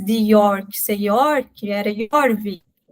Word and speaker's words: Jorvik: E os nórdicos que ali chegaram não conseguiam, né, ou não tinham o costume de usar essa pronúncia, eles adaptaram para Jorvik, né, o som mais forte. E aí foi até se tornar York.